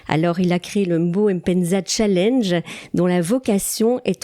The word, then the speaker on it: Mbo Mpenza: J'ai donc devant moi le grand Mbo, on ne prononce pas le M, Bo Mpenza.